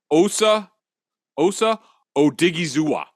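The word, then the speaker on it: Osa Odighizuwa: Osa Odigizua.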